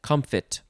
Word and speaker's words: comfit: preserved with sugar and that one is pronounced comfit so uh yeah is